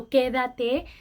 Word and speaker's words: Quédate: It sounds like stay, but she just kind of separated each syllable. So, Quédate.